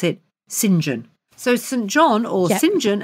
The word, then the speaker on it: St John: St John Beachwood but you don't call him St John you pronounce it singen so St John or singen as he's known